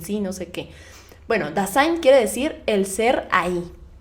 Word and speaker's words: Dasein: también del siglo XX, quien habla del concepto Dasein. Se los voy a deletrear. D-A-S-E-I-N. Dasein. Bueno, Dasein, así se pronunciaría en inglés, pero es Dasein.